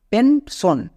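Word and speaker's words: pension: দাল মি সন সো এস আই ও এন যখন word প্যাটেন হবে তখন সন উচ্চারণ দেবে যেমন টেন সন পেন সন এখানেও দেখেন সন শব্দের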